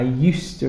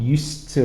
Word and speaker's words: used to: the pronunciation listen i used to ride a tricycle we don't actually say the d because you have d and t together and it becomes one sound used to ride a tricycle it